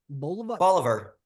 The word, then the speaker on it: Bolivar: Bolivar. Which is Oliver with a B.